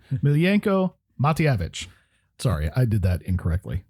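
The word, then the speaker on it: Miljenko Matijevic: I actually wrote a phonetic pronouncing. Miljenko Matyevich.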